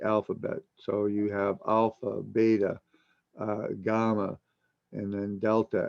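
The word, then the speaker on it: βήτα: alpha or ranus Riel beta or Vita is proper Greek pronounciation uh orionis Arabic names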